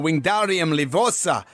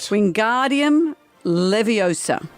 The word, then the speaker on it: Wingardium Leviosa: The famous Harry Potter spell wingardium leosa does what? Wingardium leviosa.